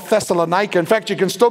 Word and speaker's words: Thessaloniki: about this place called thessalonica in fact you can still go visit it today and the travel guide will probably pronounce it Thessaloniki and it has a